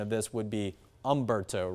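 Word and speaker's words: Humberto: There's an H in front of it, but the H is kind of silent.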